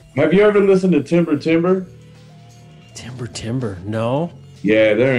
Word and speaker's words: Timber Timbre: Have you ever listened to Timber Timber? Timber Timber, no. Yeah, they're incredible, man. It's like ghostly, gospel, bluesy. It's spelled Timber Timbre.